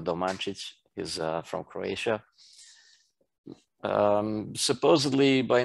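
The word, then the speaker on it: Domančić: That's his first name, and the last name is Domancic, with the little things on them, Domancic.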